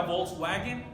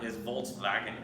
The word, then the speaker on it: Volkswagen: letra bar está así a menudo se escribe con una w alemana y los alemanes la w la pronuncia como un entonces a en el español por eso él a veces vemos que dicen los dos la marca volkswagen si en alemán volkswagen ellos no pronuncian así entonces nosotros adaptamos el